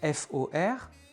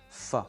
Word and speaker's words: for: Donc F O R va se prononcer naturellement "fuh" et non pas "for" dans la langue orale.